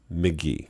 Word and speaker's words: Mk.gee: McGee or McGee. I'm pretty sure you can pronounce it either way. I was wrong. It's pronounced McGee.